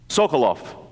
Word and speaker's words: Sekulow: think about my grandfather Samuel Sekulow shmulik was the name in Hebrew sokoloff is how it's pronounced in Russian came to the United